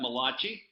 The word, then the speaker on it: Malachi: And that comes from Malachi. And being an Italian, I like to pronounce that Malachi. I call him the Italian prophet.